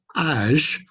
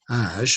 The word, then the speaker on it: âge: So âge, so even though it's the letter G, age, and in English we'd say age, so it'd be a j sound, but in French it's a j again, age.